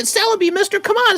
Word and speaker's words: Celebi: donate this chellabie here it's not chellabia celebi mister come on say